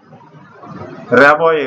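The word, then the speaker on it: Rimbaud: ইন the valley road অর্থাৎ রাবয়ে উচ্চারণ কিন্তু বানানটা হলো আর আই এম বি এ ইউ D full stop তারপরে দুই নম্বর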